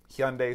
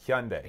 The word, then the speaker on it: Hyundai: But I got a 2017 Hyundai Sonata. How do you pronounce that? Hyundai. Hyundai.